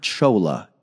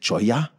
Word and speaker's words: cholla: I didn't want to use the word chola in there. Just because it's kind of weird to pronounce. Is it choya?